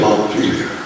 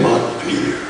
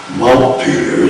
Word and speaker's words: Montpelier: Notice that I say Montpelier. I do not say Montpelier. Montpelier is the way that all good Vermonters pronounce the name of the capital city.